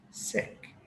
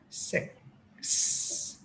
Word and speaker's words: six: correctly is actually to make two separate sounds the first one being the one most vietnamese already do sick followed by a very distinct s sound six now notice how i